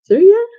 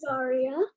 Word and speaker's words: Zaria: Zoria? Did I mess that up really badly? No, you were great. It's Zaria.